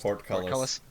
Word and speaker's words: portcullis: How's it pronounced? Portcullis. Portcullis. Yes.